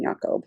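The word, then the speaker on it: Jakob: and that is cjd the yakob is with a J um that's like a German yakob like Jacob but anyways so um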